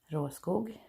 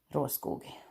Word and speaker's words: Råskog: That's how you pronounce it. I know many Americans say råskog because it's not easy to pronounce, I guess, if you're not from Sweden. I am, so you say råskog.